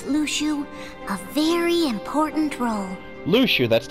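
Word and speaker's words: Luxu: gave his apprentice luchu a very important role lucha that's not how i would have pronounced that that seemed like a simple task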